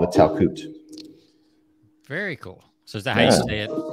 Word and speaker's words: Talkoot: do whatever as a community it's called the talcute very cool so is that how you say it is that how you say it a towel coot is that how you say your business name